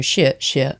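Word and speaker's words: 谢谢: And it's the tone down, so shit shit. Just realised that's probably the opposite way for you. So shit shit.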